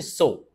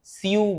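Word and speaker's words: sew: তো সেলাইয়ের ইংরেজি হচ্ছে সো। এসই ডবলিউ সো যেটাকে আমরা সিউ বলে থাকি। সঠিক উচ্চারণ হচ্ছে সো।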